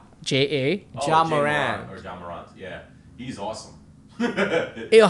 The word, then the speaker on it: Ja Morant: So it's J Morant. Ja Morant. Ja. I said Ja.